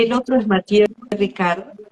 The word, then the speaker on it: Mathieu Ricard: y el otro es Mathieu Ricard, se escribe Mathieu, y Ricard como Ricardo en francés, 50 libros de él